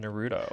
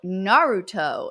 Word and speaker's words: Naruto: stuff like bleach and nuto oh God I hate that you say it like that um no but bleach is it pronounced bche or something in Japanese no no Naruto it's Naruto but it was it's interesting